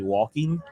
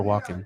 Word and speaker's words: Walken: Walken. Probably my favorite song from him. You say walking, Christopher Walken. That's the name of an actor.